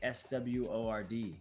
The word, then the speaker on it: sword: How do you say S-W-O-R-D, Creed? Sword. Sword? Sword. So why don't you say sword? Because we should take out the W.